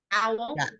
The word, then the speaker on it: Howell: Dr. Edward Howell? Say his name again. Howell.